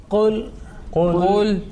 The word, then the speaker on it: قل: Qul. Okay, so making sure between that kul, kaf and qaf. Qaf is a thick, okay, and that kaf is a thin.